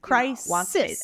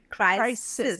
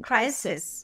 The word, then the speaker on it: crisis: hit one country one crisis as in Sister crisis no voicing crisis there go crisis and